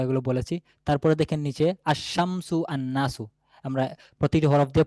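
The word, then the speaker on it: الشمس: তারপরে দেখেন নিচেটা দেখেন আলিফ লামেশামসিয়া। শামসিয়া বা সূর্য বর্ণ এগুলোর লাম উচ্চারণে আসবে না।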